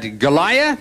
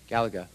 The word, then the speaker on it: Galaga: up in the upper leftand corner is that galaya or solar Fox Galaga Galaga okay fine you're right I mispronounced it you got it right is the